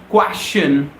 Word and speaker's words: question: We say question, question, question. We always end this word with the sound of shun, question.